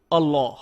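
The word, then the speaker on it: الله: অক্ষরের বিশেষ উচ্চারণ রয়েছে সাধারণ নিয়ম হলো যখন লাম অক্ষরের উপর তাসদিদ যুক্ত হয় আমরা হালকাভাবে উচ্চারণ করি আল্লাহ আল্লাহ কিন্তু আল্লাহ শব্দটি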